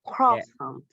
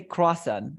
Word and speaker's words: croissant: Croissant. Yeah, people say croissant. Yeah, because they think that is correct. That is the perfect pronunciation. But in French, how do we say this?